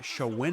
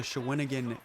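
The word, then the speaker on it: Shawinigan: apologize for anybody in showin again I butchered that name multiple times I kept calling it Sean again and apparently it is the schwinnigan cataract um I probably would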